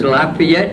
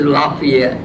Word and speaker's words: Lafayette: two cities in one one is Lafayette and the other is lafay yet I I would like to say that I I I i' adhere to both pronunciations La yet when I